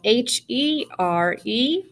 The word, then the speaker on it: here: So the magic E at the back, the silent E at the back, tells this E to say his name. One of my second graders, his name is Angelo, and he said that we should tell it to say your name. Say your name. And this letter's name is E, so it's going to say ear, here.